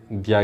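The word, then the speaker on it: Dahl: हु has authored द book title human, how द United state abandon piece and re invented war? Human. चलिए ये है question number 7 का option है ए, rolled दो, rolled दा pronunciation, L silent होगा, दा।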